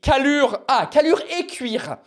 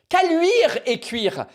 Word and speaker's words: Caluire-et-Cuire: I mean, if you can pronounce the name of this city, Callure-et-Cuire. Caluire-et-Cuire.